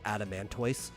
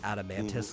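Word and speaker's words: Adamantoise: knee-jerk uh reaction to want to say Adam Mano uh when it should be adamantis like a tortoise yeah it's the same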